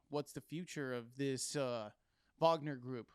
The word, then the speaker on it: Wagner: So that just tells you already what the heck is what's the future of this Wagner group, right? Right. Wagner. I mean, you pronounce it however you want, but I believe the proper pronunciation is Wagner.